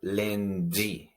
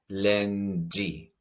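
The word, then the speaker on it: lendi: Can you hear the pronunciation of the DI sound? It's very strong. We say lundi. Lundi. Whenever we have the DI combination in Haitian Creole, we are going to pronounce it very strongly.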